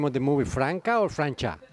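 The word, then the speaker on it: Franca: me and uh how do you how you pronounce the name of the movie franka or francha franka franka chaos and creation is the let's say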